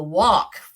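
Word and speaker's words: Waqf: area is controlled by a group called The Walk now that's a strange sounding word isn't it it's pronounced W or it's spelled excuse me W A Q F the walks it's a Muslim agency that keeps everyone following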